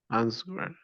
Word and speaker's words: answer: to answer. The W is silent.